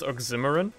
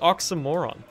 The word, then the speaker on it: oxymoron: for the longest time i thought it was pronounced oximeron because my english teacher pronounced